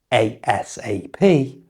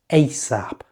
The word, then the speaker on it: ASAP: Be careful with this, because it can be said in two ways. You might hear people say the letters ASAP. Or say it as a word, ASAP.